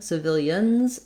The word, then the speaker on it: civilians: with your new pronunciation if you're saying the plural of civilian civilians it's going to be a z sound for that letter s in that word so i hope the